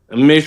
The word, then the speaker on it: Meshoe: I get it wrong Reverend Kenneth Mishu did I get your name wrong sir Mish sir you got it right it's Mish okay excellent there we